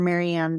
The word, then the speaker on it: Marianne: yes thank you for that so Instagram Dr maranne Miller so my my first name is spelled in the French way it's m a